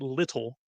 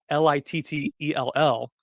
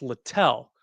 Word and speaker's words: Littell: It is spelled as if you would pronounce it little, Littell. It's Littell.